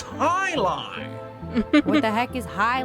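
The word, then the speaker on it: jai alai: against the bellows bloodhounds what the heck is jai alive it's pronounced high lie what the heck is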